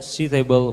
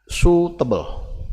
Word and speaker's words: suitable: To which water suitable for purification? What? Suitable. Suitable. The eye is silent.